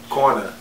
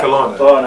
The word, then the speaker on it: Kelowna: Kelowna. No, Kelowna. Kelowna. Yeah, that's right.